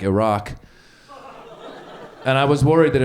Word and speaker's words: Iraq: didn't pronounce it right it's not Iraq it's Iraq okay fine I might